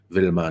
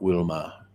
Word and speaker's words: Wilma: I'm assuming that's German, which is why I did the German pronunciation. Wilma, not Wilma.